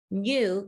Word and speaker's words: knew: you need a k the k is silent you just say the n sound new k-n-e-w like if you